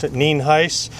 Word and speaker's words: Nienhuis: It's spelled Nienhuis, and it's pronounced Nienhuis.